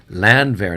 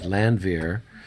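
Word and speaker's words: Landwehr: you care about it it's land there oh stigler i love you you're always correcting my pronunciation land there not landvier okay yes yes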